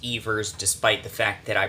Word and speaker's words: Evers: Tony eavers and his name is in fact pronounced eavers despite the fact that I pronounce it ever several times in this video guys the Wisconsin